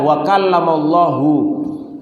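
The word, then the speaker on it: وَكَلَّمَ اللَّهُ: Nabi Musa wakala Muhammad kemudian ada orang yang mengatakan ini ayatnya bacanya bukan wakallamallahu Musa taqlima tapi wakallamallah Musa itu yang berbicara kepada Nabi Musa bukan Allah berbicara kepada Nabi Musa ya kalimat hu dengan H itu sudah lain maknanya ya yang maknanya adalah yang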